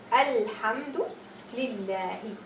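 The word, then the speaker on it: الحمد لله: So I say Alhamdulillah. Here I pronounce the alif.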